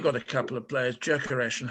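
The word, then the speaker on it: Gyökeres: television and we've got a couple of players jerkers and hummer and they are ritualistically anglicized into hamer and yokeres as if nobody's ever heard of an umlaut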